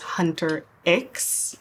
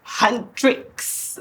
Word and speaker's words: Huntrix: My first attempt was Hunter X, and my 10-year-old died and was like, Mama, it's Huntrix. And it's like, Right. there's no I.